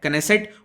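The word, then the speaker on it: Knesset: जिसको कहा जाता है कंसीट तो देखिए कई लोग के को साइलेंट मानते हैं लेकिन इस साइलेंट नहीं है डी के हज तू बी प्रोनाउंस तो इसे कहते हैं कैन आई सेट और इस कनेक्ट में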